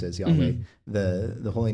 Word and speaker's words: Yahweh: Yeah, it's the Hebrew word Yahweh, or how we would pronounce it as Yahweh, the holy name of God.